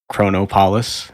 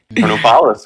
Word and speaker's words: Chronopolis: am currently at uh Chrono polace as Mike and I used to pronounce it back in the day chronopolis man chronopolis chronopolis chronopolis um I I'm enjoying